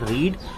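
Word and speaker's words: read: spelling same होती है सिर्फ पढ़ते हैं रीड फर्स्ट फॉर्म को सेकंड फॉर्म को रेड पढ़ते हैं और थर्ड फॉर्म को भी रेड पढ़ते हैं स्पेलिंग सेम होती है सिर्फ प्रोनंसिएशन डिफरेंट होता है उच्चारण अलग होता है तो रेड लिखा हम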